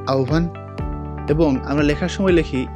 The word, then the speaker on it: আহবান: তোমরা কি জানো আহবান শব্দটির প্রমিত উচ্চারণ আহবান এবং আমরা লেখার সময়